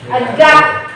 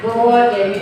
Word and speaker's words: God: ya pengucapan kayak tadi God God itu kan Tuhan ya kalian ada yang mungkin masih bilangnya good beda artinya ya good sama God itu beda ya kemudian ada tadi ya